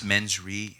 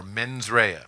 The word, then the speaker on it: mens rea: criminal intent, and these are people of This mens rea. How do you pronounce it? criminal intent, or mens rea.